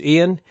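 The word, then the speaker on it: Eoin: names and I apologize even that's e o i n smith i can pronounce but it when I think it's I think it's Ian GOI N and mark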